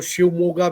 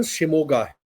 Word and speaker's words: शिमोगा: शिमोगा नाम था उस डिस्ट्रिक्ट का। कुछ लोग उसको शिवमोगा भी कहते हैं बट सही शब्द सही प्रोनाउंसिएशन उच्चारण शिमोगा तो वहां एक पुलिस